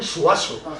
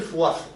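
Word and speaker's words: Zuazo: broma porque en Cádiz que haya una palabra con dos zas que no puede pronunciar nadie todos dicen suaso pero oficialmente es el puente del zazo Bueno pues este puente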